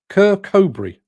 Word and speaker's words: Kirkcudbright: Mick Norton says Kirkcudbright, is pronounced Kirkcudbright.